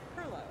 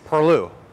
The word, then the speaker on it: Perlu: talk about Perlo. Am I saying it right? Perlu. Perlu, okay.